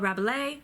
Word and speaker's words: Rabelais: Heung soo ah ha ha but Lee Francoise Rabelais or Francoise travel lays more yeah more yeah